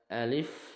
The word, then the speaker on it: Alif: dibaca terputus-putus yang pertama Alif ini bacanya pendek ya Alif Alif ujungnya seperti Huruf F F bukan huruf P F Alif bukan juga dipanjangkan Alif atau Alif tapi Alif pendek kemudian lam ini panjang